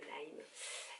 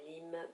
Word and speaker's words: Lyme: prononcer l'hymne voilà donc on dit la maladie de lyme et non pas l'hymne donc excusez moi pour